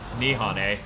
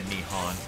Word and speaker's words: Nihon: where i was like japan oh but they don't pronounce a like that i wonder if it's japan nihane and then i said nihon i'm so good you know it's the